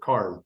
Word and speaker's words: Cairjn: And so because it's our word, it means the same as Cairn, but we pronounce it Cairn because it's ours, and this is America, and that's how we can do it.